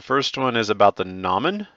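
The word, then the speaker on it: gnomon: one is about the nomin i believe the g is silent but if you want to pronounce it ganamin go for it uh and this is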